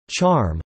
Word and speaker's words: XARM: formerly named the X-ray Astronomy Recovery Mission (XARM), pronounced "charm," is an X-ray astronomy satellite of the Japan